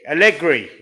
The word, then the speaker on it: Allegri: Allegri.